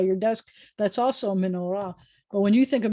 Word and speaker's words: menorah: We have menorah.